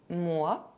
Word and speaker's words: moi: If the letter OI are followed by N, they can be pronounced ouin. Moi, moins.